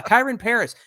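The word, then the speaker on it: Kyren Paris: And it's like they have some guy, Mike, his name, I believe, is Kareem Pari. Is that how you say it? Or Kyron Paris? Oh, him. Yeah, Kyron Paris.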